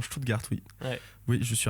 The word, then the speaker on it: Stuttgart: bien bonne prononciation, Stuttgart, oui.